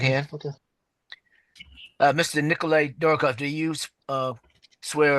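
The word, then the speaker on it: Dorohov: v okay and spell and how is that pronounced dorov okay all righty uh well M uh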